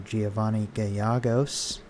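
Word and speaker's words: Giovanni Gallegos: for us and uh giovanni gayagos i think his name is pronounced so i was just watching a cardinals game today and uh i'm pretty sure i heard an announcer say his name like that so that helps me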